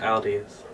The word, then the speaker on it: Aldous: Aldous.